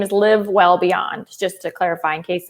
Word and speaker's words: Live Well Beyond: Oh, did I say living? It's okay. It's all right. I've had people say Live Well Beyond.